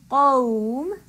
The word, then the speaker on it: قوم: So, for example, qawm, I'm giving lean to the waw, but I still have to give the heavy quality to the qaf.